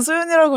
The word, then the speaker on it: So!YoON!: 그래서 뭔가 그렇게 써 유언으로 읽을 필요도 없고 그냥 소연이라고 읽어주시면 되지만 일단 보기에는 뭔가네 그렇게